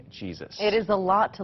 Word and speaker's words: Jesus: old Carolina Jesus yeah my last name is Jesus yep that's how she pronounces it she's been doing her